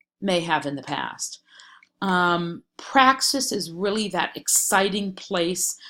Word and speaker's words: praxis: in Chapter one but praxis sounds like the word practice and honestly I can't